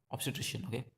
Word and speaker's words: obstetrician: it isn't not emphasized you have to just say it in a very quick way a physician obstetrician having a baby so